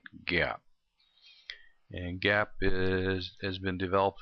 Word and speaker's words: GAAP: with some generally accepted accounting principles pronounce that gap and gap has been